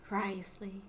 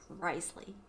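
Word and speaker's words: Wriothesley: Risley. Still blows my mind that they just skip 4 letters completely. The O-T-H-E. And it's just Risley.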